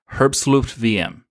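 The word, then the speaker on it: herbstluftwm: that's what it is the WM is vm because it's a German team and it's a German term and it's the pronunciation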